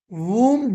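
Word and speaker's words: whom: यानी डब्ल्यू को साइलेंट करके।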